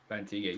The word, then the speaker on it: Bantigue: Bantigue, yes. Bantigue?